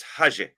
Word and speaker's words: Haji: That's a Haji. J sound. But it's not Haji like like Arabic would be, but it's close. It's Haji.